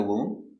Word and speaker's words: womb: the baby in the womb that's right very good so remember whenever you see MB at the end of a word the B is always silent these are only some